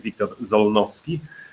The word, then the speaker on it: Wiktor Zolnowski: so my name is Victor it's pretty hard to to pronounce for anybody who is not from Poland so so uh like I recommend you to pronounce it like Victor zovi uh and who am